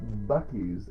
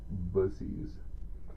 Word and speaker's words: Buc-ee's: Okay, last up we have a product from the good old Southern Busussy or Bies as the wrong people call it. Um cuz it's definitely pronounced Bussies.